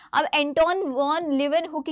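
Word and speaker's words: Antonie: अब तक भी बहुत सारे टीचर्स इसको एंटोनी पढ़ाते हैं, but that is एंटोनी, एंटोन नहीं है, एंटोनी है, एंटोनी, ठीक है।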